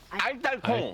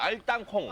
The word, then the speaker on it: 알땅콩: 알딸콩. 예. 알따콩. 다시 한번 해보세. 알땅콩. 알딸콩. 발음이 알딸이 아니. 알딸이 아니고. 아. 알딸이 아니고. 알콩. 알딸콩 딸이 아니고 땅 땅 알땅콩.